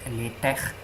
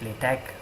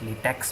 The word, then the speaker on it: LaTeX: The word is pronounced LaTeX. It's the sound of high in Latin or he in Arabic. If you don't know how to pronounce that, you can call it LaTeX. Some people call it LaTeX, but that would be really wrong because it's not latex, the rubber. It's at best LaTeX.